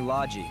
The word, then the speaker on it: Logy: his name okay so we know the proper pronunciation people usually call me lodgy and I think I've grown to like that name lodgy I like Loki better but Logie okay